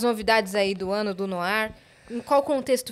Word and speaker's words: Noir: Noir. Noir, exatamente. Noir que se escreve N-O-I-R.